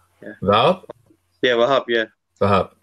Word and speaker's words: Vahap: My name is Wahab. Let me Yeah, see. yeah, you Uh, can say my name. Yeah, Val? yeah, Wahab. Yeah, Vahap.